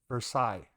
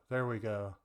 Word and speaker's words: Versace: And then the House of Versailles, or VER. Okay, there we go. Versace, yes. Total brand. I have heard of You have heard of Versace?